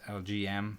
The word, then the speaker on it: LGM: mana in the city lgm and the uh in the city i don't know how many people actually realize this but it's pronounced lgm like the letter l the letter g the letter m uh which stands for